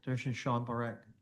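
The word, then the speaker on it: Darshan Parekh: Could you uh state your name and spell it for the record? Sure. This is Durian Bad. Durian Shan Barak.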